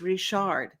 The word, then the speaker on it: Richard: I know it's spelled Richard, but I'm from Louisiana. She's from Nova Scotia, where all the Cajuns originated from. So it's Richard.